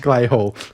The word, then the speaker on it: Clay Hall: Well, Clay Hall is definitely pronounced Clay Hall. Like a hall made of clay.